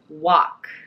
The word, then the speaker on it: walk: 来てます。In American English, we say walk. アメリカ英語では私たちは、walk と発音しています。walk。